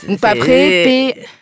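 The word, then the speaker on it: PAPRE: Paperé, P-A-P-R-E, mais ça se prononce paperé.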